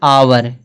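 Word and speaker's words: hour: यहाँ देख लो दिया आवर। आवर में यच का उच्चारण हो रहा नहीं हो रहा ना, यच का उच्चारण नहीं हो रहा, इसको देखो आवर पढ़ेंगे, आवर।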